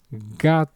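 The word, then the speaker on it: gato: The example word for us in Spanish will be the word for cat which is gate.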